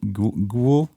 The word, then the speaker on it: Goyle: How did you pronounce Goyle's name last time? I mean, Ghoul. Ghoul, but then you said Goyle, and I was yeah, but I like Ghoul better. Crabbe and Ghoul show up.